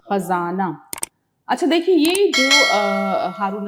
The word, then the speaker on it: خزانہ: ختم ہو جائے گا۔ خزانہ تلفظ صحیح ہونا چاہیے، خزانہ۔ اچھا دیکھیے، یہ جو